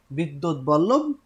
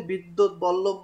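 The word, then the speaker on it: বিদ্বদ্বল্লভ: এই নামে উদ্ধার করা হয়েছিল, কিন্তু পরবর্তীতে এই কাব্যের যিনি উদ্ধার করেছেন বসন্ত রঞ্জন রায়, বিদ্যুৎ বল্লভ। কি নাম? বসন্ত রঞ্জন রায়, বিদ্যুৎ বল্লভ। বানানটা একটু দেখবেন, বিদ্যুৎ বল্লভ বানান, এবং উচ্চারণটা একটু খেয়াল করবেন।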